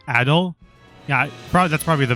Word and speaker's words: Ado: Um, I went to the Adu or I I keep saying Adu, but it's probably Ado.